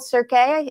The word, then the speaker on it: Cirque: Um one of them was the paranormal Cirque. Is that how you pronounce it? It's not circus, it's Cirque.